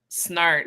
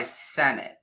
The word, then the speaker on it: Senart: from now on SN there was a time where I calculated 36 different ways that people were pronouncing my name and I'm like Hooked on Phonics art is the most common followed by Senate which I don't they just don't look at the letters I could see that